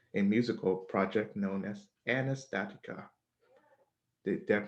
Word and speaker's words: Anastatica: soul member of a musical project known as anastatica did that pronounce that right yep you did great so